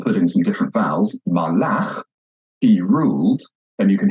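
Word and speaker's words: מָלַךְ: So, melech, king, is accented at the beginning of the word. But if I take the same consonants and put in some different vowels, malach, he ruled, then you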